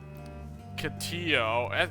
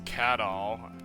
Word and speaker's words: Cadol: Catillo. I think it's actually Cadol, but I keep saying Catillo. It's Cadol. Even though Catillo sounds better.